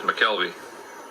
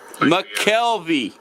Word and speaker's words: McKelvey: your last name how you pronounce it is mckelvey mckelvey mckelvey mckelvey you can